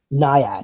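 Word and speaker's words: Nyad: Anette Benning uh for n how do you pronounce that NAD NAD okay so I was saying it right Lily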